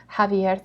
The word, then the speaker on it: Javier: can have a sound this name over here can be heavy it or it could be Savior exciting English to you but in Spanish it's definitely gonna be Javier think of they has